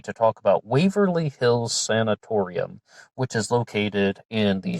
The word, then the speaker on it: sanatorium: in america but um i was always calling it waverly hills sanitarium so excuse me if i slip up but they do spell it with a no so it's sanatorium and i learned about